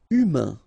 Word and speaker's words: humain: Humain. Remember, H doesn't exist. So, U, then A-I-N together. Un. Humain. Humain. Hypnotique.